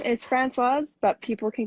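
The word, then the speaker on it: Françoise: So my name is Francoise, but people can call me Frenchie if Francoise is too hard to pronounce.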